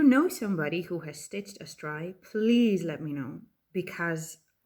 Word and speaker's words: Astraea: The Drop Dead Gorgeous Astraea by our beloved Rachel Anderson. Astraea, or I think it is pronounced Astraea, meaning from the stars.